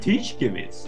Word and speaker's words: Tishkevitz: I was wondering how the F you pronounce Lundin and Tishkevitz. Yeah, that's pretty much how you pronounce them. Yeah, Lundin. Lundin. And Tishkevitz.